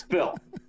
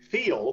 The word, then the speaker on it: Phil: It's one syllable, and it's Phil. Now, all right, give it a shot. Hermie has always said it. Feel, yeah. 2 syllables. Yeah, say it. But it's really just one.